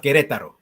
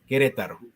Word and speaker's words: Querétaro: is from a town in central Mexico called Querétaro. Am I pronouncing that correctly? Right, it's the it's the um the state of Querétaro, Querétaro.